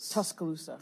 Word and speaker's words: Tuscaloosa: this pronounce t talo Tuscaloosa Tuscaloosa yeah think of the c as a k Tuscaloosa it's a Native